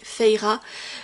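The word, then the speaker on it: Feyre: Alors, oui, je sais qu'elle s'appelle en vrai Feira, mais moi, je le prononce à la française quand j'ai lu Acotar à l'époque.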